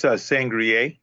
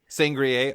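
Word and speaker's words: Sangerye: How do you pronounce it? It's Sangria. Sangria.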